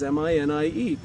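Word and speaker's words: minié: French name MANET and switched it over to an American pronunciation it looked like many it was mi nie so this is the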